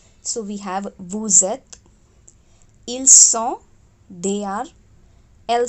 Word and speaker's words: vous êtes: first letter of eth, are linked together and are pronounced like Z. So we have vous êtes, ils sont, they are, elles sont, they are.